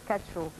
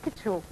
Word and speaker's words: Ketchou: Nous, on a pris l'habitude de dire Kacho. Vous dites Ketchou. Ketchou, tout simplement, c'est l'original. Donc c'est ça l'appellation originale.